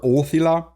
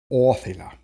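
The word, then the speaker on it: ōþila: whichever one you prefer just make sure the accent's on the first syllable I prefer othila just because it can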